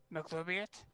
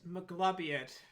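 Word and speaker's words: Maglubiyet: McLubiot? I believe it's pronounced Maglubiot.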